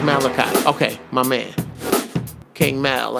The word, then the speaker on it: Malachi: Oh, it's pronounced Malachi. Okay, my man. King Mal, I got you. Malachi.